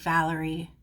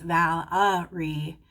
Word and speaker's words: Valerie: I think Valentine is how you say it for a girl, and Valentine is how you say it for a guy. Just like Valerie. For a girl, it's Valerie. For a boy, it's Valerie. Okay.